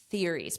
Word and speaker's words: theories: So notice we have this th here theories but it's an unvoiced tariff theories.